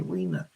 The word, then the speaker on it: Rina: She spells it R-I-N-A, like Rina, but it's pronounced Rena, R-I-N-A, Rena.